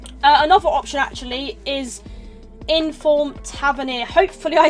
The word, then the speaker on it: Tavernier: his name wrong, but I think it is James Tavernier. Hopefully I'm right, correct me if I'm wrong, but yeah, I used to call him Tavernier with an R, like TRA, but yeah, no, that's not right.